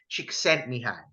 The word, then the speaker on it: Csikszentmihalyi: Now, the flow state was actually coined by a Hungarian American psychologist back in the 1970s, and his name is Mihai Csikszentmihalyi. Mihai Mihai. Csikszentmihalyi.